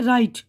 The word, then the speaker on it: right: GH के पहले वाविल हो तो GH का लफ्ज़ खामोश यानी साइलेंट होता है, जैसे राइट, RIGHT राइट है ना लफ्ज़, तो लेकिन GH का जो है खामोश हो गया वर्ड, साइलेंट, वरना घ होता है, जैसे घोस्ट, भूत।